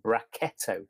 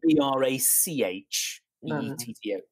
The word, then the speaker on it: Brachetto: It's an unusual, quite rare grape variety in Italy called Brachetto. It's spelled Brach. E-T-T-O, Brachetto, and it comes from Acqui, Acqui, and